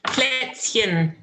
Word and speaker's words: Plätzchen: How do I pronounce? Plätzchen.